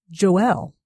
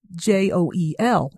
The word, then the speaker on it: Joel: But no, it was important to me that his name is Joel, J-O-E-L, and pronounced Joel, Jo-El.